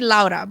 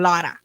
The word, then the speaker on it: Laura: I say Laura, but when I got a shout out to Laura from Badu Jack in Vegas, he called her Lara, like Eddie Slandy Lara.